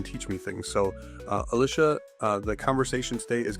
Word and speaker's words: Alicia: a very special guest Alicia rhymes with Adisha Wagner. There's a Wagner. Yeah. No, it's Alicia Wagner. All right. Alicia Wagner here.